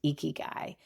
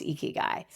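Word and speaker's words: ikigai: It is a Japanese word named eeky guy. I'll spell it for you if it's new for you.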